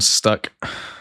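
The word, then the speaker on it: Stach: Yeah, Anton Stack.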